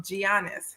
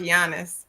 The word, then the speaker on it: Giannis: his name is Giannis it's pronounced with a Y but you call it you you call him Giannis which I think think